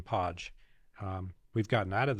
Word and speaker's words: Padge: thanks for pronouncing it Podge it's spelled p a d g but often gets pronounced page uh and that's that's